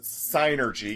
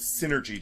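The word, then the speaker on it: Psynergy: sinergy attacks are and I pronounce it sinergy because Synergy just sounds stupid plus it makes no sense in the grand scheme of things it's psychic energy sinergy mhm but I'm not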